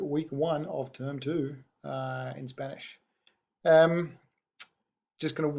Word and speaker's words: hay: So to express those ideas of there is or there are, in Spanish you only need one word. That word is spelled H-A-Y, and it's pronounced I.